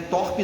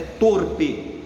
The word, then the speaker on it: torpe: Não é torpe não, é torpe. A pronúncia correta é essa.